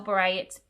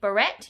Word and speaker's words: beret: you know this but if you spell berets b-e-r-e-t but you don't say barette you say beret that's like a french spelling where you don't pronounce some of the letters sometimes you guys know